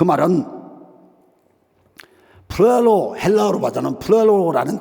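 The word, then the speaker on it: πληρόω: 그 말은 플레로, 헬라어로 봐서는 플레로라는 발음을 해요.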